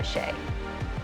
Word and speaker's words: Shay: but normally I just go by Shay. Shay? And how do you pronounce your last name?